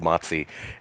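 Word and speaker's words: Matze: I think it's called Matzi, even though technically speaking, it's spelled Matse. Okay. But I think they pronounce it Matzi.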